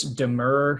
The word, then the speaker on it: demurrer: procedural history here okay um because of this demur hearing um am i pronouncing that right yes okay um uh so